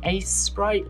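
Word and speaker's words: Aseprite: like the most is Ace Sprite. That's A-S-E-S, no, it's spelled strangely, it's A-S-E-P-R-I-T-E. That's really good. I recommend Ace Sprite.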